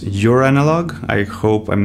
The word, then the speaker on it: Joranalogue: recommend it test three I think this is pronounced your analog I hope I'm not